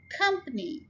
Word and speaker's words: company: Company, it's a 3 syllable word and we are stressing the first syllable.